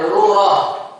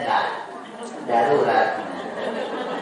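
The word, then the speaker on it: ضرورة: Kita jatuhnya pengucapannya adalah daru darurat. Mungkin orang Indonesia kurang kuat dalam mengucapkan d jadinya da darurat harusnya darurah ya.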